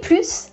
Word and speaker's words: plus: So plus, it is when it is positive, you're adding something. Or it is more of something. For example, plus de pain. I'm adding more bread, so guess what? I'm adding that S. You do not say the S if plus is in a negative sentence.